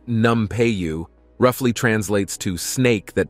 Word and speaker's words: Nampeyo: as an exceptional Potter her name pronounced numu roughly translates to snake